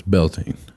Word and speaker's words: Beltane: So how do you pronounce Beltane? It's Beltane.